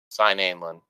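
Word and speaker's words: Seinalan: I just know that at times, like Sanderson has said that like all the vowels get pronounced. So when you have like two in a row, that's Sinalin.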